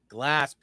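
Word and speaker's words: Glasp: uh podcast on YouTube spell it for the people g l a s p glass see I kept thinking you were saying glass and I was like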